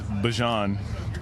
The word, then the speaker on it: Bijan: How you pronounce my name is Bijan. For everybody that's out there. I know a lot of people say Bijan, but it's Bijan. It's Bijan. Bijan.